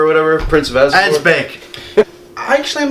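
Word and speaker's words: Asbæk: Yeah, Pillow Asgabar or whatever, Prince of Asgabar. Asbeck.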